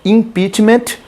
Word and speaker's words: impeachment: fosse um t enfim a pronúncia mais adequada é impeachment com o tpii anunciado que é como